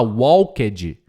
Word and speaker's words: walked: Walked, eles vão falar walked, né? Não fala wall, fala wa sem l, sem u no meio. W e kt walked. Walked.